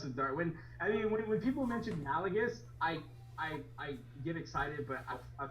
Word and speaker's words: Malgus: It's Malgus. It's not Malagus. My bad. Malgus.